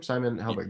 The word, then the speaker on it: Simon Helberg: And then Simon Helberg, is that how you say his name? Simon Helberg, yeah.